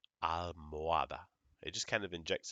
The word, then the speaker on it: almohada: Never, never, never pronounce an H in Spanish. Okay? If you see it, know it's there, but you don't pronounce it.